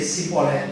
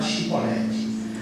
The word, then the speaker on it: chibolete: Mas ele decidiu não ser um efraidita e dizer cibolete. Não, eu tenho que falar chibolete.